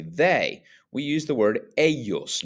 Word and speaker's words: ellos: Then to talk about other people and to say they, we use the word ellos, not elos, but ellos. Remember that the double L is pronounced like a Y.